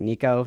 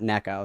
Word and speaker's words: Nico: And then apparently it's not nec. It's Nico like like like the name like Nico, not Neco.